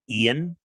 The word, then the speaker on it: Ian: And my name is only 3 letters long, Ian. IAN. And when Tony yells for me, she just goes, "!" I'm like, God, you can't even say. I have the shortest 2-syllable name in the world.